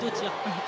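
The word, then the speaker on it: dóttir: Alors vous allez vous apercevoir que tous les noms ou presque des joueuses se terminent par de Tir, ce qui veut dire en islandais fille de. Voilà. Donc c'est pas toujours évident à prononcer, mais on sait bien prononcer la fin en tout cas avec de Tir.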